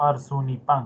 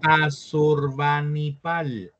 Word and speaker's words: Asurbanipal: Yo le he puesto Arzunipan, como suena, ¿está bien? Asurbanipal. Asurbanipal.